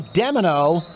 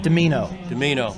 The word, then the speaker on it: Domino: Hit by Demino. Close to the goal line. Or Domino. I got to say it right. Domino.